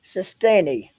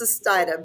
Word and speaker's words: Sustaita: it's okay you did you got really close it's stia but what a fantastic